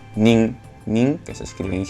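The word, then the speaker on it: 人: Y esto, cuando lo utilizamos como contador, se lee nin, nin, que se escribe en hiragana, así, ¿verdad?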